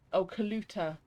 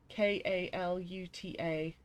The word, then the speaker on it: Kaluta: No, not as in the coffee drink. Although it is spelt with a K. I'm just looking to my comic book shelf to see where it is. It's Kaluta. Kaluta.